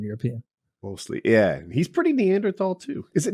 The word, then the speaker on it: Neanderthal: Is it Neanderthal? I've always said it. Yeah, it's supposed to be Neanderthal, but they shouldn't have thrown that fucking H in there if they wanted people to say it right.